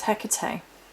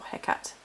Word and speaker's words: Hecate: It's actually sacred to the goddess Hecate, or Hecate, depending on how you pronounce it, and the magical arts.